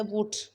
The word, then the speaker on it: would: अब है WOULD, L silent है वुड।